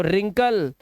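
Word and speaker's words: wrinkle: देखो रिंकल है ना, रिस्ट, ऐसा लग रहा है इसको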